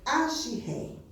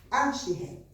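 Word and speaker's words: אשרי: Ashiré. É a pronúncia. Ashiré.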